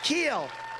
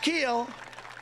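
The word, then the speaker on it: Kuehl: he loves nebraska steve keel it's pronounced keel but it's spelled k-u-e-h-l how the hell did you get keel out of that one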